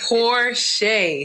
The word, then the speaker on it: Porcher: butcher your last name you didn't butcher it but it's pronounced porsche it's okay poor shay see i started to